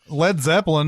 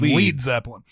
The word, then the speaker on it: Led Zeppelin: __ ] up stupid it's kind of like Led Zeppelin decided not to use the net the the word le ad they didn't spell it that way because they felt like stupid Americans would call the lead Zeppelin we would have been